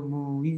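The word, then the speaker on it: মুই: Remember this, when there's two vowels together, then that can become two syllables. So, Vando Mui Savadhana Mate.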